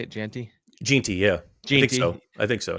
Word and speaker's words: Jeanty: Jeanty, yeah.